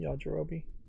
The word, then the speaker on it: Yajirobe: I think that's how you pronounce his name, Yajirobe.